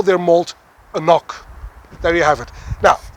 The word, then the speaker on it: AnCnoc: malt, because actually they present their malt as AnCnoc. That's how you pronounce this, AnCnoc.